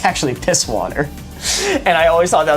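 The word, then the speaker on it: Pißwasser: People pronounce it as PIB water. That's not what it is. A German STE is two S's, so it's actually piss water.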